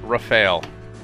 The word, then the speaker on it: Rafale: I hadn't I don't know I've been mispronouncing things all over the place I don't know that one was bothering me but rafale okay I know it's French but yeah